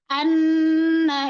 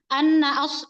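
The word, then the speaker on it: أنّ: Anna ashabal kahfi anna itu harus ditahan. Kesalahan yang terjadi tidak menahan gunahnya. Atau seperti ini bacanya annaas annaas gitu atau gunahnya kurang anna as anna as seperti itu.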